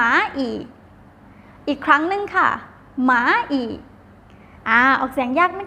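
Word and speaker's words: 蚂蚁: มด คำ นี้ นะ คะ ออก เสียง ว่า หมา อีก หมา อีก อ้าว มา อีก แล้ว ว่า มด นะ คะ หมา อีก อ่า นั้น กำลัง แสง ตลอด ซื้อ นะ คะ หมา อีก อีก ครั้ง นึง ค่ะ หมา อีก อ่ะ ออก เสียง ยาก นะ คะ นิด นึง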